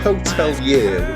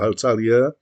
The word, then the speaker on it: Hotelier: Hotelier, which is how I believe it is the band name is meant to be pronounced, are an American band from Worcester, Massachusetts.